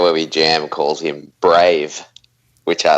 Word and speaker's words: Braithe: The guy down at the studio where we jam calls him Brave, which I like. Brave. It's good. Yeah. And we've never corrected him. It's just Brave.